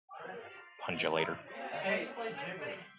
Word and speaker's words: Pungulator: Pungulator. it's a hard G.